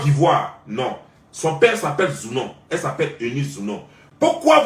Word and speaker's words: Zounon: Son père s'appelle Zounon, elle s'appelle Eunice Zounon. Pourquoi vous ne pouvez pas prendre la peine de prononcer leur nom comme il se doit et